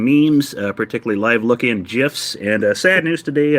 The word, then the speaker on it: GIF: rob first of all the g stands for graphic people that's a hard g so it is gif all right it's not